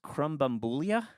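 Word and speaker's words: Krambambula: this online other than it's pronounced Crum bambula iulia CR bambula um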